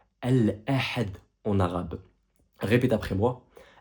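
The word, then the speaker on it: الأحد: Ici, en l'occurrence, le dimanche se prononce al-ahad en arabe. Répète après moi. Al-ahad.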